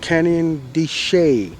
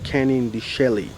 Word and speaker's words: Canyon de Chelly: called a tunnel canyon it's called canyon di shay not canning the shelley yeah most people think it's shelly but it'll spell that way and if you look